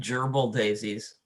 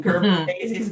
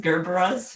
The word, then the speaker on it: Gerbera: And It reminds me of when I worked at Bordine, somebody came in and wanted gerbil daisies. Gerbil daisies, as in Gerber daisies, Gerberas, yeah.